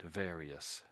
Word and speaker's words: various: Various various various you're you're sort of saying vary various and I'm saying very very I'm I'm making I'm giving I'm making that sort of that sound in the middle there saying very the I sound is making sort of an e E sort of sound very various okay